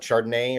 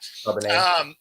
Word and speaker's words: Charbonnet: How are you on Walker and what Chardonnay or I think it's how do you pronounce Charbonnet, it? yeah. Charbonnet, So that's the thing right?